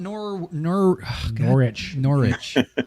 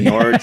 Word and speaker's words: Norwich: So tell us about Norwich. It's pronounced like, so you can say it either way. People will say Norwich, but people will say Norwich.